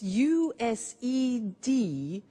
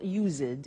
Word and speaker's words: used: It's U-S-E-D and then T-O. But the pronunciation is not used, it's used.